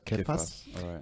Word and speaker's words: Kefa: leadership foundation campus uh for peter you can either call it surface or cafes but we pronounce it as kefir kefa's leadership foundation and